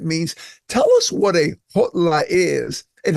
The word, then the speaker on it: Kgotla: pronounce it HLA because I try to combine the K and the G and I just saw you say Gola is there a proper